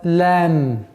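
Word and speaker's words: ل: Вторую букву, которую мы сегодня пройдем, это буква лам. Обратите внимание. А в транскрипции лам, мягкий звук.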